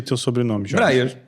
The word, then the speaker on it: Braier: Como é que pronuncia teu sobrenome, Jorge? Breyer. Breyer, assim.